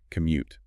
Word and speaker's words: commute: So for the pronunciation, make sure you hit that second syllable, commute.